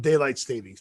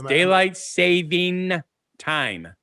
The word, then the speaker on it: daylight saving time: You were saying it plurally again. It's daylight saving time.